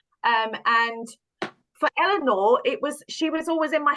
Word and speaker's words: Eleanor: How do you pronounce her name? Eleanor? Eleanor. Eleanor.